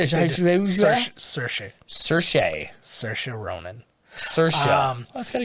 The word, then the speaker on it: Saoirse: Saoirse Ronan was also in the running for that. Is that how you pronounce that?